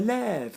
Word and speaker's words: lève: So when there's an ending like en or a, we keep the original pronunciation of e. And when, so le vent, lever, and when it's the last syllable, je me lève, tu te lèves, we would change the sound to an eh sound.